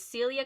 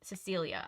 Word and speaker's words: Cecilia: woman replied it was Celia Cornwallis she was the one who had organized all of the volunteers Cecilia was a tall woman Cecilia I missed a syllable on her name dressed in all